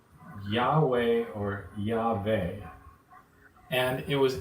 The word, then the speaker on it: Yahweh: don't understand that George the name Jehovah was actually a mispronunciation a Yahweh or Yahweh me so this is